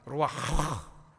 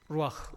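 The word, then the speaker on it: רוח: 발음하면 이 속에서 히읗 발음 나와요. 루아흐. 루아흐.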